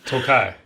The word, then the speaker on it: Tokaj: It says, note that it is a Tokai dessert wine cask finish. Tokai is a sweet dessert wine. Have you guys had it before? So it's Tokaji. It's pronounced Tokai.